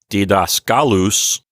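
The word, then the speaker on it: διδάσκαλος: So here in this little example with didaskalos, we have the accent moving from the third to last syllable, which is the antepenult, to the second to last syllable, which is the penult. And so it's going to sound like didaskalus.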